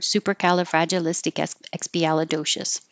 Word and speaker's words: supercalifragilisticexpialidocious: at Mary Poppins so it's written like one giant word and it does sound like one giant word supercalifragilisticexpialidocious and it's it's a